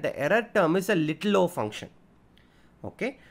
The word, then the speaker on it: little o: error term is a little o function. Okay, so this is pronounced little o. Little o.